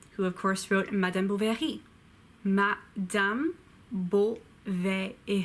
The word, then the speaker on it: Madame Bovary: bad Gustav libéré who of course wrote in Madame Bovary mat dumb bull there a fee Madame Bovary